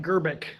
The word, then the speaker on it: Grbic: It's missing a few vowels, but it's Grbic.